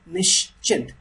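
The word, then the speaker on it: निश्चिंत: chint right chint chint Nish chint okay Nish and then chint Nish chint you have to read this part once Nish and then this part once nishin but I always suggest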